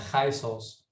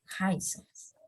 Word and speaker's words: Giesels: Dalam bahasa Belanda ada G itu jadi namanya Giesels. Giesels.